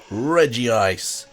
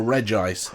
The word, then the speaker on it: Regice: here we have regi ice or regice depends how you want to pronounce it the special version